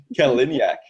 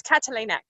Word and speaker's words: Catalinac: Kaliniak. Oh, no. Damn it. Almost. It's Catalinac. Catalinac. As it's spelled, it's exactly how it's spelled.